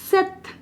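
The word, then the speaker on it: sept: 7 is known as सेथ, इसकी spelling होती है सेप्थ, इसको कहते हैं सेथ, ठीक है।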